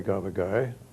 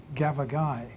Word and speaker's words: gavagai: Gavagai, yes, stress on the last syllable.